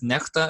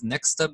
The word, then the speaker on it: Nexta: Of course, this Nechta channel, it is Nechta originally, which means someone, but many people in the West refer to it as Nexta because this is how they chose to spell it.